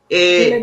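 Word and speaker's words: Geledés: Ela é fundadora do Instituto, eu acho que eu vou pronunciar errado aqui, gente, é GL10, né? GL10, e aí, isso GL10, isso.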